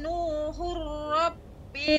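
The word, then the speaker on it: نُوحٌ رَّبِّ: Wa qala Nuhur rabbi la Ra-nya tebal. ala Nuhur Rabbi. Ketika tanwin ketemu dengan ra, idgham bila gunna pada ra, ra-nya dibaca dengan tebal.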